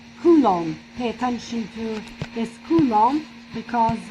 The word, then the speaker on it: coulomb: pay attention to this coulomb because we have a silent b in the end it is not pronounced okay as well as